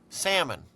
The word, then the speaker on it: salmon: I'm very impressed that you pronounced the L salmon oh I don't know if I did you may have heard the L trust me salmon I'm cooking salmon you